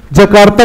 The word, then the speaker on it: Jakarta: is made differently somewhere, its pronunciation becomes different, yet Jakarta is correct, Jakarta is correct .